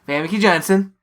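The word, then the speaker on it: Famke Janssen: say her name cuz I can't say it famy Jansen famy Jansen is that how you say it yeah basically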